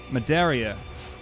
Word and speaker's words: Madeira: How do you pronounce that? Madeira. Oh yeah, believe me, I know it's not Carol Ho.